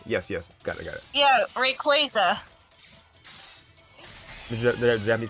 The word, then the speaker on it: Rayquaza: It's based on the term Quasar. Okay, so yeah, I was wrong. So y'all were right. Yes, got it. Yeah, Rayquaza.